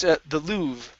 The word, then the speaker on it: Louvre: This here is pronounced the Louvre.